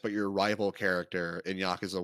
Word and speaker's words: Yakuza: huge in the Yakuza Yakuza.